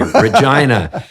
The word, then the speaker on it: Regina: And they always have these t-shirts that say Regina rhymes with fun.